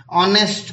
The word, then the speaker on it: honest: ऑनेस्ट girl पहला letter H है बट बोलते तो ओ वाउल की साउंड आती है।